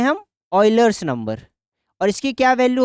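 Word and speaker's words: Euler: ठीक है, इसकी प्रोनाउंसिएशन क्या है, ऑयलर। ठीक है, ऐसे करके ऐसे आप याद कर सकते हैं, ऑयलर। ठीक है, ये यूलर या फिर ऐसे नहीं, इसकी प्रोनाउंसिएशन है ऑयलर्स।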